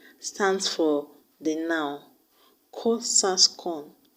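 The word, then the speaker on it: QQOSASCON: So the mnemonic I've come up with is pronounced as Ko-Sas-Kon. Ko-Sas-Kon. Q-Q-O-S-A-S-C-O-N. Q-Q-O-S-A-S-C-O-N.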